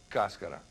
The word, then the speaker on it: cascara: A lot of people say cascara or cascara, but the way that I've heard it pronounced is cascara.